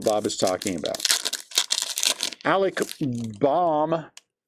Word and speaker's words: Bohm: Alec Baum. If your last name was B-O-H-M, would you pronounce it Baum or Bohm? I pronounce it Baum.